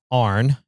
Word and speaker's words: Aaron: Um, you jumped in the vehicle with a gentleman named Ar. Uhhuh. And his name is spelled Aaron. Aaron, but everybody goes by AR.